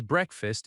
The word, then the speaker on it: breakfast: One very common question is, "Is breakfast included?" Listen to the stress. Is break-fast included? Breakfast has stress on break. Break-fast.